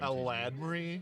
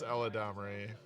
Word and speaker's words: Eladamri: Sorry, Eladamri, as I heard for the first time on a Magic stream, like the weekly MTG. Eladmri? Yes. That's how they think you pronounce that? Well, that's how one particular person on the weekly MTG Magic stream pronounces it. and Eladamri. It is Eladamri.